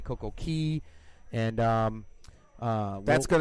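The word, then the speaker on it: CocoCay: they call it but it's really pronounced key because that's how the locals pronounce it and Nick I'm gonna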